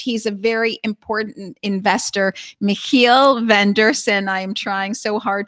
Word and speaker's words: Michiel van Deursen: a very important investor, Michiel van Deursen. I am trying so hard to pronounce that right. Michiel, thanks for being with us. Thank you. You pronounce it perfectly, like a Dutch person.